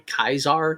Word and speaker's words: Caesar: Likewise, we also interpret the beast of Revelation as referring to Nero Caesar, or technically Caesar, because there's no soft C in Latin, so Nero Caesar.